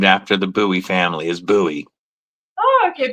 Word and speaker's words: Bowie: the Buoie family is Buoie. Oh, okay. Buoy. Yeah, because we also have I have a lot of people telling me different things. So, for once and for all now it's buoy.